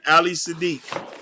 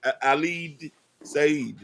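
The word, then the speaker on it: Ali Siddiq: How Nakapendo, How to Love the Black Woman, featuring Ali Sadiq. Ali Sad. I can't know how to pronounce the guy name. It's Ali Said.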